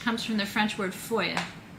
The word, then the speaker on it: feuille: And foil, which comes from the French word feuille. It's a hard word to describe, to pronounce.